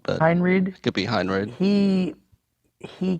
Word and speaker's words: Henreid: is that his name how do you say it I say Henry Henreid to be hundred he